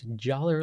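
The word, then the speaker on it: jalr: called Jer so I'm going to pronounce joller like dollar cuz I have this nice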